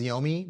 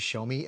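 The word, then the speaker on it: Xiaomi: I thought it was Yomi, but it's actually Show Me.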